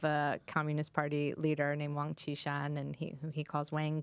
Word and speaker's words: Wang Qishan: Yeah, I mean, I correct his mispronunciation of a Communist Party leader named Wang Qishan, and who he calls Wang Qishan.